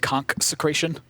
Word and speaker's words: Consecration: I believe you've pronounced it wrong. If you listen to every player say the abbreviated form of consecration, I believe it's pronounced conch-secration. Okay, sure. Why do they call it conch? It just rolls off the tongue, right?